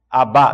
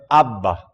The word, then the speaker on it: abba: Mesma coisa, abá, não, é abba.